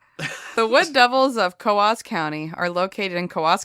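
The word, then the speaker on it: Coös: on top the two dots oh okay so coas so people who aren't from the area pronounce it CZ and you're like that's adorable you're wrong you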